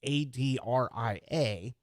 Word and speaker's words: Adria: march the first name on that list is adria it's a-d-r-i-a uh but it's pronounced adria and uh that list will run